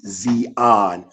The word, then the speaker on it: Zion: That's first of all that term Zion, the Hebrew word way to pronounce it would be Zeon which means dry land, dry ground.